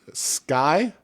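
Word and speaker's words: Sceye: the good news is sky i think that's how they pronounce it s-c-e-y-e it is uh essentially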